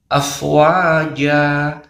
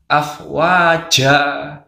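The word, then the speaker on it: أفواجا: Jadi yang benar bacanya afwaja bukan afwaja jelas ya bedakan antara raja dengan cat jadi saat mengucapkan huruf hijaiyah tidak boleh ada hembusan angin ya Jadi yang benar afwaja bukan afwaja jelas ya mudah-mudahan video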